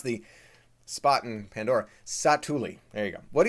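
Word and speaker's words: Satu'li: That's how you pronounce the spot in Pandora. Satuli.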